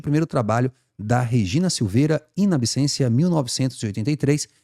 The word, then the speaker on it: in absentia: seguinte ó a instalação in absencia se pronuncia o t com som de s tá pessoal o latim